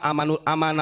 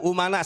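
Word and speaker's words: أمناء: alulama Um Rasul alulama aman Rasul Katanya Goblok itu bukan pintar bukan Aman umana saya benerin ya itu yang dikajian di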